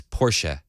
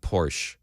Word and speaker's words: Porsche: It's Porsche, not Porsche. Don't pronounce it like ignorant Hollywood idiots who buy